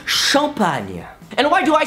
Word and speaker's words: champagne: because it's Duchamp Anya no not champagne shop Anya and why do I